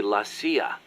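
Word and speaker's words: la CIA: around here they say laia instead of CIA huh um nothing strange about it that's how it's pronounced when you read it in Spanish it has the feminine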